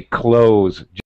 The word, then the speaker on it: clothes: Okay, you can pronounce the th you know the sound like the this that close, but you don't have to. It's acceptable in English to just say close just like close the door.